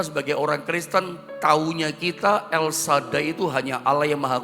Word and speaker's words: El Shaddai: Makanya dalam akar kata El Shaddai, jadi bacanya El Shaddai, bukan El Shaddai. Kebanyakan kita salah-salah El Shaddai. Yang betul adalah El Shaddai.